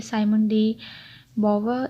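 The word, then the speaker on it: Simone de Beauvoir: इसमें आप देखते हैं राइटर हैं इनकी साइमन डी बोवर। ये देखिए, मैंने साथ में ना प्रोनाउंसिएशन इनकी लिखी हुई है, ताकि जब आप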